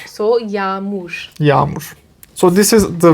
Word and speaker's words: yağmur: So this G in Turkish is a silent G. You do not pronounce this G. So it's Y-A-G. M-U and R. So yağmur.